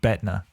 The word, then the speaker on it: Bettina: Not Bettina. All right. Does not rhyme with retina.